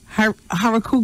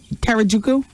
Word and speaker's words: Harajuku: women known as the Harajuku girls. Is that how you say it? Huh? Karajuku? Well, this starts with an H.